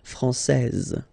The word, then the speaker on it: française: And then when you put this final E here, you will get française.